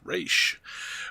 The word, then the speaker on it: Ra's: sadig re Al goul yes pronounced re with Alfred close behind